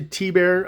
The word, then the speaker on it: Thibert: Art T bear um and that's how they say it thibert to T bear I don't know uh I know it's a French name so it's actually in French T but I don't know